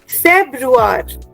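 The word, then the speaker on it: Februar: we need to develop this accent of the pronunciation okay फेब्रुअर फेब्रुअर okay now the next one is tricky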